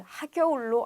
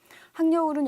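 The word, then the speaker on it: 학여울: 바뀐 것 같기도 한데 그 전에 여러분들 그 이름이 항려울이라는 역이 있었어요. 근데 많은 사람들이 그것을 하겨울로 알고 있는 경우가 많아서 표준 발음으로 문제가 나갔던 경우가 있었습니다. 니은 첨가돼서 항려울이 맞습니다.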